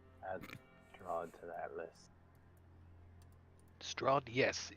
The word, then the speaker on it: Strahd: drawn to that list strod yes is there I hear an H in there straw strong where I come